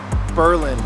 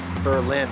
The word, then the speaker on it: Berlin: state of Wisconsin does the same spelling different pronunciation thing a lot too it's Berlin Wisconsin not Berlin Wisconsin founded in 1831 Lima is a town